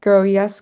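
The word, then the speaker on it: GroES: this this complex and basically the grow yel grow yes complex so the way you spell that is gr R and then capital e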